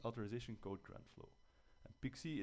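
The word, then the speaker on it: PKCE: code Tran flow and pixie is pke it's very nice to pronounce reminds you of little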